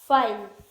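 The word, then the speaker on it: file: ई का उच्चारण, जब किसी वर्ड के लास्ट में ई आए तो ई का उच्चारण नहीं करते क्योंकि लास्ट में आया ई हमेशा साइलेंट होता है। फाइल, तो देखिए इसमें ई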